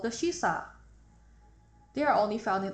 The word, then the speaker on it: shisa: In fact, shisa is the Ryukyuan pronunciation of shíshī.